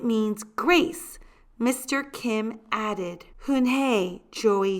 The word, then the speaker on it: Unhei: turned to Joey she nodded slowly yes it's pronounced hunai and it means Grace Mr Kim added hun hey Joey said slowly and this time perfectly it